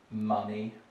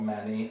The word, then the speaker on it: money: Quite a common one for Russians who might mispronounce words like money or funny. Those are not manny and not fanny.